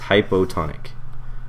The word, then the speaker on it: hypotonic: this we call this hypotonic okay and the way I remember it is the O in hypo rhymes with low so this is the